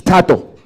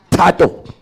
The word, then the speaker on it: Tato: But it's Tato. Get it right. My name is Tato.